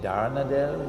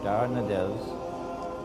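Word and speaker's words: Dardanelles: and the straits of is it darn adele or that i i pronounced it wrongly last time the bosphorus and the straights of darnadels would now be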